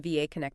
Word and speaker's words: VAConnect: some internal documentation, brochures, and web content from VAConnect themselves. And just to be super clear for everyone listening, that is pronounced VAConnect.